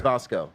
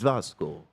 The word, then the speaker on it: Vasco: Apparently, it's Vasco. Not Vasco. I tried with the hard "a," and I was corrected that it is Vasco. Vasco. Okay. Like Vasco de Gom. It is Vasco. You pronounce it Vasco.